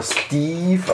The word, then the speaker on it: Steve: Aber Steve ausgesprochen.